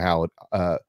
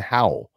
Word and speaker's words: Howell: I'm looking forward to seeing Jawan Howard. I say his name wrong constantly. I can't figure out why I continue to do that. Jawan Howell. Howell. Jawan Howell.